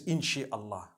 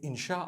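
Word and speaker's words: إن شاء الله: inchi means to create no one says inshi Allah they say insha Allah that's what it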